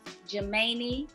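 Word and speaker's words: Geminae: that means twin so it's kind of like gemini but it's spelled um instead of the extra i is the a e at the end so g-e-m-i-n-a-e i i remember that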